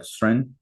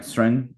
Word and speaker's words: Søren: Anyway, but the O drops out, so it's like instead of Soren, it's like Sren, right? Sren, and then if you hear it pronounced sort of like phonetically, it sounds like Kierkegaard.